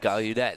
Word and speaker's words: Gallaudet: Gallaudet, there you go. I have a hard time pronouncing that one.